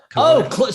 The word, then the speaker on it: Klonoa: So it's a really cute cat thing, and it's a platformer from the PS2 and Kelowna. Klonoa. That's the one. That's how you say it.